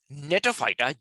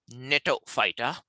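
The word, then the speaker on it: Gnetophyta: Moving on to another phylum, Netophyta, G is silent, Netophyta, right?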